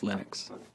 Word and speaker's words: Linux: pronounce my name but linux is always linux he developed a kernel